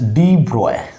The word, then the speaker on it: de Broglie: This is the de Broglie hypothesis or equation, but generally it is written de Broglie, but we pronounce is de Broglie.